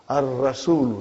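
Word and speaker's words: الرسول: Ar-Rasulu. See? Sun letter.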